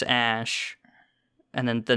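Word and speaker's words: Æ: again it's just sentence it's supposedly pronounced X ash and then the name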